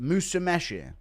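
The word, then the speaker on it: Musumeci: It's pronounced Musameshi.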